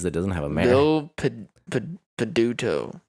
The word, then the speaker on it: Peduto: those weird cities that doesn't have a map peduto peduto b-i-l-o p-e-d-u-t-o that's the last name is spelled easier than i thought it was gonna